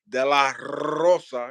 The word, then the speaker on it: De la Rosa: on my friend eie De la Rosa you know you got to roll your RS when you say her name and uh we saw